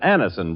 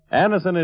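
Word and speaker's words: Anacin: what many thousands have known for years, that Anison brings incredibly fast, effective relief.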